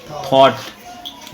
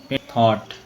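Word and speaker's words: thought: कराया था ठीक है तो यह वर्ड थाउट ही है लेकिन थाउट बोलेंगे तो थॉट ठीक है बोलेंगे फिर समझ आएगी अच्छा ये वड थॉट होता है थट नहीं होता टी एच शुरू में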